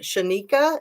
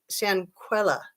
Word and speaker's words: Shanquella: Shanika, is that how you say it? Shan Shanquella.